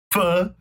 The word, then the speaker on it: pho: Pho.